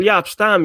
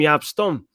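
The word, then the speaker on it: Jaap Stam: It's like when he used to call Yap Stam, Yap Stum.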